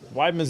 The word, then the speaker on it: Weidman: Weidman's not that hard. Weidman. Like a wide man.